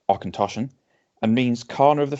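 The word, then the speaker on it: Auchentoshan: light smooth spirit character it's pronounced or contortion and means corner of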